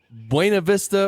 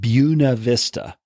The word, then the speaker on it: Buena Vista: And the woman who got to name the town actually chose to call it Buena Vista. She wanted what she called an Anglo pronunciation, which I think is hilarious because, you know, it means nothing then. Because, you know, Buena Vista, the Spanish means good view. And It's just funny that someone would change the pronunciation like that on purpose, but so it is.